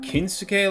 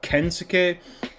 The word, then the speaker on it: Kensuke: The other thing is I think I called Laios' sword Kinsuke last week, it's actually Kensuke, or Kensuke.